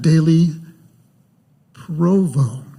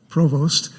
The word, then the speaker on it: Dailey-Provost: say her name right it's not like the University administrative position Provost but it's pronounced like our um our quirky neighbor to the South City in Provo and uh Jen was